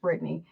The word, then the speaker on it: Brithney: It's at I am Britney. My name is spelled Brithney. So I am Britney. The H is silent on Instagram.